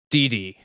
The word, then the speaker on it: Dee Dee: is how he met Dee Dee. Just You gotta say it like Dexter from Dexter's Laboratory.